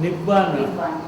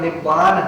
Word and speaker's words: निब्बान: पाली भाषा में उसका उच्चारण निब्बान होता था।